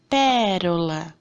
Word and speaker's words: pérola: Por exemplo, pérola. Qual que é a sílaba forte nessa palavra? É o pé.